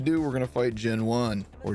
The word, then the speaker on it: Genone: then once you do, we're going to fight Gen One or Gown. I don't know how to say it. Aha, Gen One.